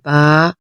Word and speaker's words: ب: سے پرہیز کریں گے، جیسے بے، تے، تے، ایسے نہیں بلکہ عربی لہجہ، عربی تلفظ میں ادائیگی کریں گے، با، تا، سا۔ اور ان 29 حروف